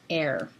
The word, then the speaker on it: heir: You don't actually pronounce the H there, nor in the word heir.